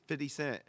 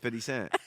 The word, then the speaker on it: 50 Cent: how you say that ain't 50 cents that's how you say it you need to know how to say it it's not 50 cents 50 cents but he he started